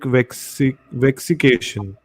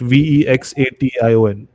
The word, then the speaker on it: vexation: Demonic vexication. Vexication. Am I pronouncing it correct? Vexation. Vexication.